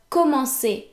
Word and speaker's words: commencer: But we want to retain the original pronunciation of the verb commencer. So in other words, we want the C to be pronounced like the S in the English word sister, right?